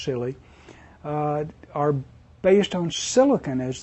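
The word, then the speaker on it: Si(Li): “Si-Li”s, yeah, this is pronounced “silly,” are based on silicon as the semiconductor and are widely used for x-ray work.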